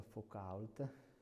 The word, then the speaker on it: Foucault: Qui c'è il pendolo, questo è il pendolo si pronuncia Foucault, è un'installazione, come vedete, scientifica permanente e molti di voi magari diranno ma che cos'è appunto.